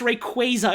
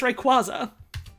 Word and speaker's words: Rayquaza: There's no fucking way it's pronounced Rayquaza. It's Rayquaza.